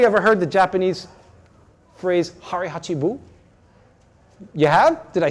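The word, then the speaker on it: hara hachi bu: control has anybody ever heard the Japanese phrase harachi Buu you have did I say it right do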